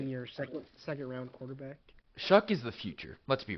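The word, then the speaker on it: Shough: You got to see what you have in Shuck. I still can't believe that's how you pronounce it.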